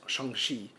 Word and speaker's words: Shang-Chi: know she he's then explaining how to pronounce his name that his name is shangshi and then she goes